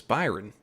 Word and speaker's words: Byron: he mispronounced it and I keep saying Brian but it's Byron oh yes so